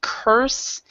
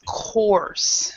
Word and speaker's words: course: a lot of people instead of curse it's course so so an course course in the English course because what and in